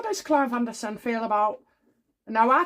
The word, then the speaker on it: Anderson: Okie dokie, so in the Clive Anderson video, well, yep, it's not Alderson, and I've been saying it wrong all the time, but anyway.